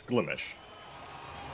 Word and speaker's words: Glimesh: I mean, it's Glimish. Is it? Is that just your Australian accent? No, that's actually how it's pronounced. So the Americans would pronounce it like Glimesh? Maybe if the Americans are pronouncing it Glimesh, maybe we'd be pronouncing it like Glimesh. Do you know what I mean? Like, no, it's Glimish. They don't overpronounce mesh.